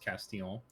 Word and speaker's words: Castillon: The way the French pronounce Castillon, not only do they do not pronounce the L's, but they also don't pronounce the N.